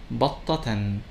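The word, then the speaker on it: بطةً: For example, the word batta, which means duck, when it has tanween with dhamma, it is pronounced as battatun. When it has tanween with fatha, it is pronounced as battatan. And when it has tanween with kasra, it sounds as battatin.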